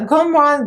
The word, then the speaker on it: Gourmande: link my discount code here and the correct pronunciation and spelling of the name uh gomron girls is a small indie brand owned by